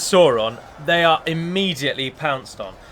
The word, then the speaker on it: Sauron: Every time I say Sauron, I always I'm reminded of numerous... One of the most common names to be mispronounced, I think, is Sauron.